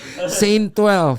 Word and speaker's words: ST12: ST ya, jadi bacanya tetap Saint gitu. Terus Stasiun bang, Iya. kalau gue bacanya. Sehat tentrem bang, sehat tentrem. Iya, ST12. Iya, ST12. Saint 12 gitu ya kan.